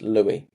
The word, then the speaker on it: Louis: So I called him Lewis last time, Chris's client. It's actually pronounced Louis.